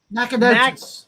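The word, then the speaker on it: Nacogdoches: Nackadocious. Nackadocious. Nackadocious. How do you spell that?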